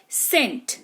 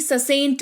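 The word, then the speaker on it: scent: तो सबसे पहला है सेंट। देखिए यहां पर एस सी ई एन टी लिखा हुआ है। इसको सेंट पढ़ेंगे ना कि ससेंट पढ़ेंगे।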